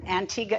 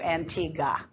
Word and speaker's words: Antigua: spelling as Antigua, but in my part of the world, the Caribbean, Antigua is the correct mispronunciation of the word. That is, was taken from the Spanish, and you know, the British usually butcher up language a little bit, so they made it into Antigua.